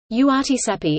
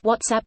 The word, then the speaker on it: WhatsApp: URTSAPI instead of WhatsApp, really.